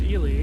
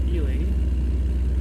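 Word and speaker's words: Ely: There's Elie which is not Eli but Elie.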